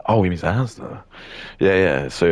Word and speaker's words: Asda: and they were talking about the supermarket chain Asda. That's how it is. But he just pronounced it as in the letters because it is just like ASDA.